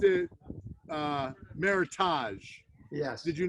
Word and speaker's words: Meritage: your viewers you know you pronounced it uh meritage yes did you not yes i did pronouncing pronunciation of this is meritage because eric married okay of heritage grapes from